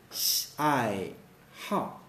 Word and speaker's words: 爱好: So for example, we say 爱好. 爱好. We don't say 爱好, no, 爱好, okay. 爱好 means like hobby.